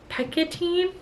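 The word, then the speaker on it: Pekkanen: an anonymous Girl by Greer Hendrix and Sarah picketin that's how you say it I gave this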